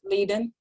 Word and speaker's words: Leiden: Now, this person has factor V Leiden, I believe is how we pronounce Yes, Leiden.